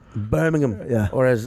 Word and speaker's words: Birmingham: do shows was like Birmingham. Birmingham. Yeah. Or as I... Birmingham? The only... The joke, there when you just pronounce it like an American would, you're like Birmingham.